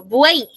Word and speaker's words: buey: Por ahí, cuando yo pronuncio la palabra, por ejemplo, buey, ¿no? Que también es un ejemplo de triptongo. Por ahí yo tengo la palabra buey. En ese caso, ese término, esa Y que está al final, suena también como I.